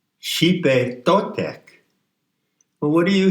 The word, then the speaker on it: Xipe: It's spelled Xipe because the X in transliteration of the Nahuatl is a SH sound. Xipe Totek.